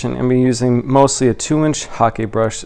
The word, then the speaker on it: hake: For today's video demonstration, I'm going to be using mostly a 2-inch Hake brush. It's spelled H-A-K-E. It sounds like the sport hockey.